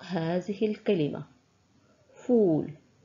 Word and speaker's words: فول: الى نطق هذه الكلمه فول فول فول مددنا النطق في حرف الواو فول حرف الفاء في